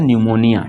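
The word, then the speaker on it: pneumonia: शब्द के शुरू में शुरू में पीस इस साइलेंट होता है इस साइलेंट होता है तो इसको लिख सकते हैं और इसको पढ़ा जाता है निमोनिया ठीक है ना उसी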